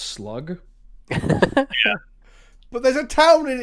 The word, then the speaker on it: slough: There's I'm actually pretty sure with regards to geology, it's a slough. It's pronounced slug.